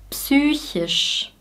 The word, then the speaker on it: psychisch: Wir sagen nicht wie im Englischen psych oder psychological, wir artikulieren das P wirklich.